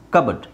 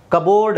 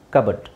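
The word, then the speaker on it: cupboard: silent P ತೆಗೆದು ಹಾಕಿಬಿಡಬೇಕು ಸಿ ಯು ಬಿ ಓ ಆರ್ ಡಿ ಕಬಡ್ ಕಬೋರ್ಡ್ ಅಲ್ಲ ಕಬಡ್ ಹಾಗೆ ಇಲ್ಲಿ P silent pneumonia pneumonia pneumonia pneumonia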